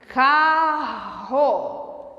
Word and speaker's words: carro: carro em câmera lenta carro de novo carro esses dois erres aqui formam uma um só som um só fonema a Então na verdade